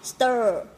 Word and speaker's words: stir: cổ của mình này, tại vì lúc ấy mình đẩy cái lưỡi lên để cho nó cong như này thì nó phải kéo cái cơ cổ của mình lên, đúng không nào? Đó, stir, chứ không phải đọc như là tơ của tiếng Việt, ok ạ?